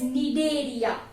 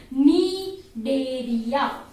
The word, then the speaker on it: Cnidaria: are also called as Cnidaria. Am I clear? So phylum Coelenterata, or I can say it is phylum Cnidaria. C is silent over here.